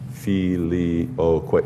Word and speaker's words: Filioque: Filioque. That's four syllables.